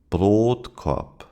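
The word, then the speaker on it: Brotkorb: Broadop. The last word is pronounced with a long o in broad although it is followed by two consonants.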